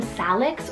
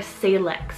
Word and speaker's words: Salix: It's the name Salix or Salix, spelled S-A-L-I-X. You can really pronounce it either way, and that one's a Latin floral name in the willow family.